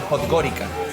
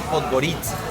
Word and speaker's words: Podgorica: Uno la lee en castellano y dice Podgorica, pero en realidad se dice Podgorica.